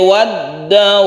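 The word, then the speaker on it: وَالدَّوَابِّ: Wa minan nasi waddawabbi wal an'ami mukhtalifun alwanuhu kadzalik. Ada tasydid nun yang kita baca seperti gunna musyaddada panjangnya, kemudian ada tasydid dal, ini kita tekan ke dalnya wad, kemudian dawab ini kita panjangkan dulu baru tasydid.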